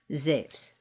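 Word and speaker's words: Ζεύς: We call him Zeus here. His Greek name is Ze.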